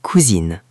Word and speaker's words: cousine: Attention à la prononciation ici. Pour un garçon, c'est mon cousin, le son est un. Pour une fille, c'est ma cousine, le son est in.